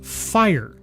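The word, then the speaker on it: Phyre: Your name is fire. Fire, you say? Oh, you mean like one of the elements? No, no, no, no. It's It's cooler than that. It's spelled P H Y R E.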